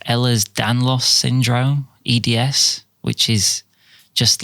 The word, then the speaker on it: Ehlers-Danlos: I think it's pronounced Ehlers-Danlos syndrome, EDS, which is just like a disorder